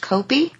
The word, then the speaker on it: Koppie: We have Chad Copy who's running for um US Senate in Illinois. Jennifer, tell us a little bit about him since you are in Illinois. And his name is pronounced Copi.